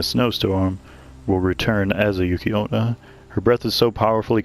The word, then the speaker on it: Yuki-onna: Pronounced Yuki-onna, yokai woman enveloped in a haze of icy cold air, also treated as incarnations of snow.